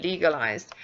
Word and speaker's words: legalized: We must remember that that's an E as in tree, legalized. And here we've got a ZD at the end.